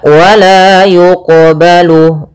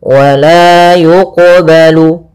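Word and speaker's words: ولا يقبل: Ini qalqalah sughronya, yaitu kita membacanya tidak boleh ada sakta, tidak boleh mantul, tidak mantul, berarti harus mantul. Yang ketiga tidak boleh tambah hamzah. Maka wala yuqbalu, wala yuqbalu.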